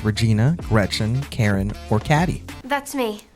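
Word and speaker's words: Cady: Regina Gretchen Karen or cadd that's me it's pronounced like Katie my bad in passing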